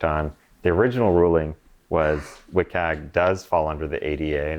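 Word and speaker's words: WCAG: through the website so if that's not meeting wiag that's how you say it doesn't meet accessibility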